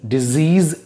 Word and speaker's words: disease: So first word mein disease, za ka sound hota z. Z. Or dusre word mein disease sa ka sound hota s, s. Okay, so be careful when you pronounce these words.